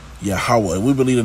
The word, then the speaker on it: Yahweh: But we believe, okay, that the proper way of pronouncing E's is ha. It wasn't ye, Yehoweh or ye, Yahweh. No, it's Yahweh. Yahweh.